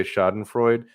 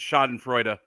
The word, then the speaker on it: schadenfreude: going to not say schadenfreude because that's what avenue q taught me off pronounces it shot and freuda you need to listen to the song again good god anyway everyone everyone's